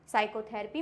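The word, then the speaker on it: psychotherapy: साइकोथेरेपी में भी P silent है, साइकेट्रिस्ट में भी पी साइलेंट है, साइकोलॉजी में भी पी साइलेंट है, क्योंकि इसमें क्या है? एस से जस्ट पहले है, इसलिए ये पी साइलेंट है।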